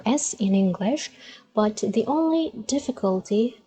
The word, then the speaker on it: سين: pronounce as we said just imagine that you are pronouncing letter s in the same manner